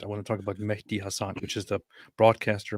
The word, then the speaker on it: Mehdi: It's Mehdi. You see the H there? Yeah. Mehdi. Like some people just say it like Mehdi, and then it sounds like Mehdi, and then it just sounds kind of like messed up and weird.